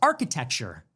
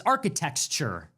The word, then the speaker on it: architecture: She can't pronounce architecture. For her it's architectxture.